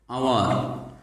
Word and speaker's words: hour: Example: hour. Here H is pronounced as vowel A or O. Hour. H is not pronounced as H.